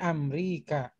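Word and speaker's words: أمريكا: min Amrika A-nya panjang Ustaz.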